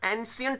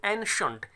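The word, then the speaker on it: ancient: अब देखिएगा, ये जो एंशियंट नहीं होता स्टूडेंट, CIENT को शियंट नहीं बोलते हैं, क्योंकि स्ट्रेस सी पर नहीं है, स्ट्रेस AN पर है। तो अगर इस पर स्ट्रेस नहीं है तो इसको शियंट नहीं बोल सकते, इसको शंट बोलेंगे।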